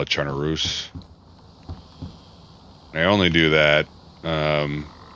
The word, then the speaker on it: Chernarus: it i call it charnaroos i only do that um i only do that because that's what i truly believe it's it should be pronounced like um just like belarus you don't pronounce it